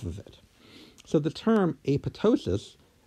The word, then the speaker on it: apoptosis: it so the term a puto --ss coined in 1972 newspaper they specifically said that the P should be silent the second P should